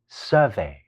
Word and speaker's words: survey: 係一個名詞，讀成 survey，即係調查嘅意思。